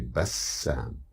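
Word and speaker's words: بسام: The ba, the sin, and there is a shadda over the sin. It resembles a stress. So we say Bassam.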